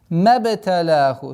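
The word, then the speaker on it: مبتلاه: Мабталяху. С огласовки фатха уходим на ба. Применяем правило калькаля.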